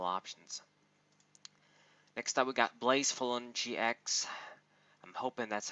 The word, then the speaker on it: Blacephalon: Next up we got Blazefulon GX. I'm hoping that's how you say it. I didn't play Sun and Moon, Ultra Sun and Moon yet. Blazefulon, Blacephalon, like a dinosaur.